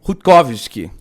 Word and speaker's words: Rutkowski: é que fala, André que sabe falar a pronúncia do sobrenome dele. Fala aí, André. Como é que é o nome Foi Greg Rutkowski.